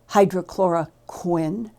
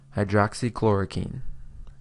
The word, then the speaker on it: hydroxychloroquine: He pronounces them hydrochloricquin and chlorin.